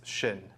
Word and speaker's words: Cynn: in my whole life in Korean its shin okay but it works much better in sin when you're in Vegas playing any short story when my uncle came over he changed the spelling but Cecil pronounces and then when my dad came over kept the spelling and decided to pronounce it sin so yeah I've been